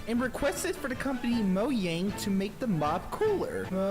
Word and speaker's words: Mojang: useless mob was and requested for the company mo yang to make the mob cooler bro how you gonna be a furry and not know how to pronounce mojang like pick a struggle honestly though i've never